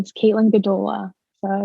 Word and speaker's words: Gdula: Um, yeah, my name is Caitlyn Gdola, so it's easy to picture that.